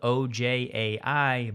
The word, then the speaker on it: Ojai: For audio only, it's spelled O-J-A-I, but it's after a city in California, and most Californians say Ojai.